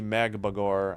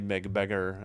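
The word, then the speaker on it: Magbegor: Looks like it might be Magabagore. I used to say Meab Beggar. I checked the pronunciation today and realized I was wrong.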